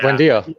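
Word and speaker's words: Buendía: He was one that they signed from Norwich for like 30 Bundy, million or yeah. something, wasn't it? yeah, Buendia.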